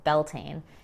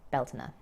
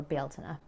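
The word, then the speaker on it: Bealtaine: wrong at some point so it's not in bulk or belting it is imbol and beltna or beltana or beltana comment down below which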